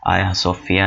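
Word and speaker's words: Ayasofya: So let's just بگن۔ آیا صوفیہ، جس کے سپیلنگز جو ہیں وہ ہے گیا صوفیہ ہیں، اور اس کو بولا ترکش میں آیا صوفیہ جاتا ہے۔ اس کی جو تعمیر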